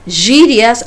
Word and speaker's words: gírias: Gírias, fíjense cómo pronuncio esa palabra, la G. Gírias, antes que veamos el alfabeto, ya nos vamos adentrando.